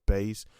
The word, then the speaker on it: Buys: uh but um base i had her name being pronounced as base not bars because her name is her name a certain agent pronounced or spelled b-u-y-s as if buys if you're buying something but um yeah i'm